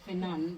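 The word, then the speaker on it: Fnan: Because obviously pronouncing it if somebody doesn't know that it's finan because there's no i but yes how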